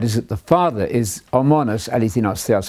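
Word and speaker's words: μόνος ἀληθινὸς θεός: that the Father is homonos eleithinos theos. I'm using the modern Greek pronunciation here, the only one who is true God.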